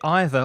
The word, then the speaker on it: either: neither so differently well you can say it either or either way doesn't matter with either and either or neither and neither it doesn't matter there are two pronounciations for the same word maybe it's because of